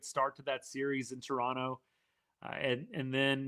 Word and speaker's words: Toronto: That year to me, that was the melt in Toronto. Yes. Or Toronto. Sorry, you don't pronounce the second T. Toronto.